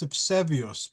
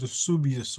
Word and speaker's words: Eusebius: There was a book written by, in Greek it's Eusebius, but I think in English they pronounce it Eusebius or Eusebius.